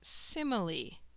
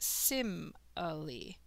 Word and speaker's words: simile: differences one form of comparing is known as simile that's how you pronounce it sim ali a simile compares two objects and generally uses